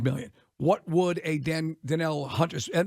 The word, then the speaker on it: Danielle: Garrett makes 25 million what would a Dan denell Hunter and it's it looks it's spelled Daniel or Danielle but it's D Jamaican